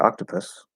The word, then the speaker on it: octopus: worry about it um in the word octopus what vowel sound do you use for the last syllable a schwa and what is the